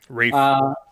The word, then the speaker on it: Ralph: It's not actually pronounced Ralph, but I'm not going to bother. Rafe. Is it Rafe? Yeah. Yes, I think it was Rafe.